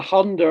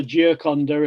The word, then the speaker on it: Gioconda: La Honda, I think, is the Gioconda in Tuscan pronunciation. They say casa for casa.